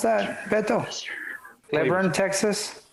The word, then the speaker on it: Cleburne: Is that how you would pronounce that, Beto? Cleburne, Texas? Cleburne, Texas, yep.